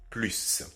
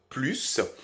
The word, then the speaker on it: plus: vous pouvez le voir il y a également un autre cas où on prononce plus c'est-à-dire si il est aussi à la fin d'une phrase donc vous avez ces deux